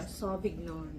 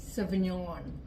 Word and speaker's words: Sauvignon: mo siya C cabernet sov vigon ganon siya sov vigon pero ano yun sa tamang pronunciation cabernet savignon ano yung nata without tea cabernet cabernet sabi